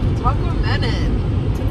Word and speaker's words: Tahquamenon: talk hey guys we're on our way to Tahquamenon Falls wait no you said it right the